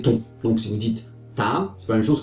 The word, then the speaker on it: Tấm: Et donc voilà, c'est genre là vous avez un accent circonflexe pour Taam et un accent aigu ce qui donne Kaam. Pour la suite de l'histoire, je vais prononcer Taam et Kaam.